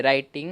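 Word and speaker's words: writing: हैं क्यों नहीं आएगा देखिए जब भी डब्लू हो फिर इसके बाद आर हो जब भी डब्लू हो और उसके बाद आर हो तो इस सिचुएशन जो आपको डब्लू होते हैं वह साइलेंट होते हैं उसकी आवाज नहीं आती है ऐसे राइटिंग इंवेट इसमें बिल्कुल यही हो रहा है यहां पर डब्लू है लेकिन उसकी आवाज नहीं आ रही है क्यों क्योंकि डबल के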